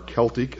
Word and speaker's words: Celtic: Sumerian Babylonian Assyrian Egyptian Celtic or Celtic as some pronounce it Aryan Etc and with